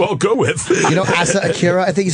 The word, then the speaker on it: Asa Akira: You know Asa Akira, I think is how you say her name? Yeah, Asa Akira.